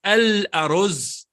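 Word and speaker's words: الأرز: Because we attach- pronounce the lam, so we say al-aruz. So it becomes lam qamariya because you hear the lam.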